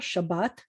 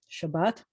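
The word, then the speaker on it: שבת: you should know shabbat accents on the second syllable shabbat shabbat and then this one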